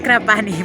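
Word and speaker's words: Krapanj: a la isla de Kraniak. Krapani. Pero es Krapani, porque la J se pronuncia ahí.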